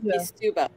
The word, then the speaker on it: Kisubo: Okay, so apparently, according to the pronunciation guide, Daja Kisubo.